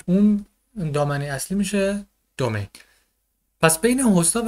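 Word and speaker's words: domain: به این قسمت میگیم دامین. رو تلفظ درست بگم دومین باشه، حتی انگلیسی میشه هاست و اینم میشه دومین.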